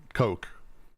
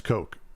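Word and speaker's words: Koch: and we all know it's the Coke brothers Coke it's Coke or it's because it's there's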